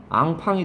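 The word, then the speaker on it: enfant: 이게 프랑스 말로 가면 뭐야? 앙팡이 되는 거라고요. 앙팡이라고 발음해요, 프랑스 사람들은.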